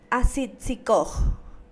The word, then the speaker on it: asitzikoj: Como ustedes verán, por ser una vocal breve, no se le da la pronunciación relevante dentro del verbo o de la acción que vamos a determinar.